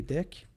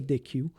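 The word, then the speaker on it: deque: Après ça, ça se prononce deck et non pas DQ. Ne demandez pas pourquoi, mais c'est le même dans tous les langages.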